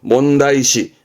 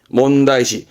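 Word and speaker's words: 問題視: 발음은 주요시, 주요시. 뭐게요? 문제시 한다는 얘기죠. 몬다이시, 몬다이시.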